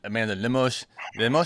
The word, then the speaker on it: Lemos: Amanda Lemos, is that how you say it? Is that what we're saying? Lemos, yeah.